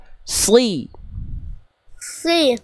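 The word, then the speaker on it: صِ: Cuman tinggal ee lidah belakangnya diangkat kayak lagi mau ngenalan sesuatu. Coba ikuti kakak ya. Si si. Ah, sedikit lagi itu cuman kurang dalam lagi.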